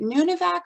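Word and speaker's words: Nunivak: and muskox that you um study is it nunavak island am i pronouncing that correctly yes yes you want to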